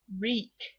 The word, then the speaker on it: wreak: And then our last word, reek. That's how it's pronounced. We have that silent W.